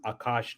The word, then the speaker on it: Akash: So it's uh it's pronounced Akash network.